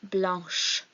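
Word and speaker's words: blanche: that's for pronunciation so when blanc is describing a feminine noun we say blush rather than two the next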